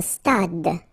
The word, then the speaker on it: stade: Un stade. Same thing here. Final is not pronounced.